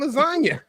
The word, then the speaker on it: lasagna: What the Yeah, You do not pronounce You do not use the say You do not use the word G in lasagna.